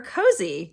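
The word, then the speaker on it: Cosi: her name is Claire Cozy, go figure. C-O-S-I, I think it's pronounced cozy.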